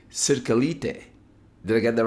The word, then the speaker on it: Cirkelyte: I'm so sorry, I butchered your last name. Cirkelyte.